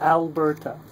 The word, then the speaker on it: Alberta: Alberta. Alberta, this is a flag. And in fact, it's actually a British name, quite pronounced.